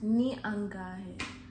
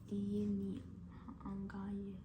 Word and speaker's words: ni angahe: Ni angahe. I thought ni I or something. Okay. Ni angaye. How do you say it? Ni angahe. Ni angahe. Angaye.